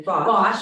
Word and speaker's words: Bosch: Bosch.